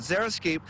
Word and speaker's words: xeriscape: First of all, I don't know much words that start with the letter Z, or sorry, X, but pronounced like a Z. But xeriscape, there's so much more